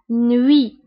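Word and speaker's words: nuit: هنا تي في اخر الكلمه لا ننطقها نوي.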